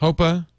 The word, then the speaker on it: HPOA: have known okay well now we know hopa pronounced hopa but spelled hpoa we now know what